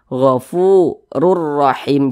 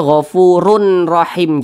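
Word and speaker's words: غَفُورٌ رَحِيمٌ: dimasukkan ke huruf ro kita baca gofururahim Jangan dibaca gofurun rahim jangan kemudian dia tidak digunahkan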